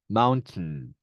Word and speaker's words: mountain: 하지만 실제 발음은 슈아 발음이 되면서 음가가 빠져서 네, 앞에 T 발음이 콧소리, 네, 너절 사운드로 발음납니다. mountain, mountain 이렇게 발음납니다.